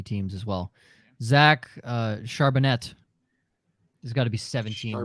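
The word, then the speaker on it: Charbonnet: as well Zach uh charbonet there's got to be 17 ways announcers are going to pronounce his name there's gonna be so many a French way is the way to pronounce it listen I've heard okoriki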